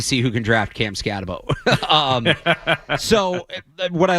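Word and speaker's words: Skattebo: I'm really curious what you think about Cam Scatterabo. And I pronounced that wrong.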